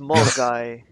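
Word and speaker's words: Milngavie: gave it's a no it's pronounced M guy isn't it it's pronounced like M guy yeah M guy M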